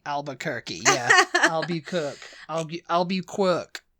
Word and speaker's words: Albuquerque: albu CK used to say Al ALU kerk Albuquerque Albuquerque yeah aluer Al ALB quir quirky qu but